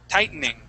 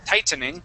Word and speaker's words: tightening: an N sound, and I basically skip over everything that G-H-T-E. I skip over it all. Okay, I say tighten, tightening, okay? Tighten. But you can also say tight, tightening, and that tightening is perfectly fine as well, okay?